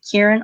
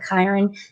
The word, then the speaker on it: Kyron: You can pronounce this name as Kyron or Kyron, depending on your dialect.